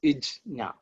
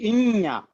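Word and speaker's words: ज्ञ: But the reality is, if the correct, the most accurate pronunciation is Ijna. But because of regional influences, it has at least 4 different variations. Some people say Inya. In Tamil, they will say Inya, Anyanam.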